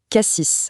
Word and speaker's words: Cassis: Ce fameux S à la fin de K6, on le prononce ou pas ? C'est le petit détail qui trahit tout de suite. Et bien non, on dit cassis avec le S silencieux.